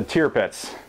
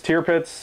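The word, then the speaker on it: Tirpitz: not brought up the tiar pits tarpits tier pits I've heard both ways I think that actual pronunciation is tier pits so we'll go with that tier pits in my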